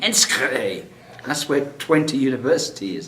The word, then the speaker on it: Enschede: immigration guy, I said, I'm heading to this place called Onsheed. And he sort of looked at me. What do you mean Onsheed? And so I said, I had to spell it out for him. He said, you mean Enschede.